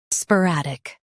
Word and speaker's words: sporadic: Today, we will learn how to pronounce the word shown on the screen. sporadic Both US and UK have the same pronunciation of this word.